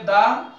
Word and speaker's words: the: এখানে আমরা দ্য larger দি বসাবো এখানে হবে দি এটা হবে দা এটা হবে দি আর্লিয়ার আর্লিয়ার উচ্চারণ করলে এখানে ভাওয়াল সাউন্ড আসতেছে এই জন্য এটা হবে দি আর্লিয়ার আর এটা হবে দা লার্জার কিন্তু এখানে আমরা দেখতে